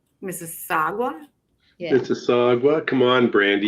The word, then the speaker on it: Mississauga: You say Mississauga.